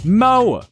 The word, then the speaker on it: Mo: Mo rhymes with Joe.